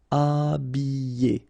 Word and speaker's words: habiller: Okay, remember I, double L, and then a vowel, Y, Y. Habiller. H is not pronounced.